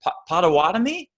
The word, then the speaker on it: Potawatomi: I'm still not Potawatomi. Is that correct on pronunciation?